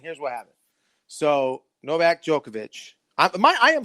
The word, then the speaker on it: Djokovic: So Novak Djokovic, I am saying his name right, am I not? Yeah. No, you're right. You're saying it right Djokovic.